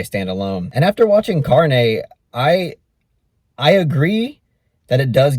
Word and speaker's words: Carne: I mean, in Spanish it's pronounced Carne.